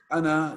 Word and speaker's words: أنا: You pronounce that ana, you pronounce it like as a short vowel.